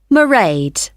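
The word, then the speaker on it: Mairead: you'll see my assistant merade sorry how do you spell that it's m a i r e a d marade okay got that it's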